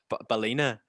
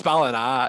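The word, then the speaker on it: Ballina: from and i'm like you're from bala you're from balina and they're like no it's ballin ah you're like very offensive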